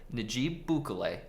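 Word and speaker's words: Nayib Bukele: president of el salvador najib bukolay look i see how it's spelled but i actually googled this and apparently that's how you say it announced via an event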